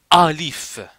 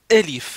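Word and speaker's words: ألف: Quand je vous dis que ça se prononcef, il ne faut pas dire alif. Non, il faut dire élif. C'està-dire un petit peu le temps un petit peu baissé.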